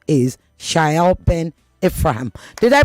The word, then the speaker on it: Shaiel Ben-Ephraim: His name is Shael Ben Ephraim. Did I pronounce it correctly?